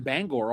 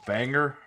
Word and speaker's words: Bangor: Uncle Pablo would visit him up in Bangor all the time. He would give him a transcript and Pablo would give him a eightball. It's pronounced banger.